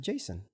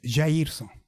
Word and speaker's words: Jairson: My name's actually a Brazilian name. It's Jairson. hell? Jairson. Again. Rosa. Jairson. Jairson. Jairson. Yeah, Jairson. Yeah, you. So do we call you Jairson or should I just call you Jason.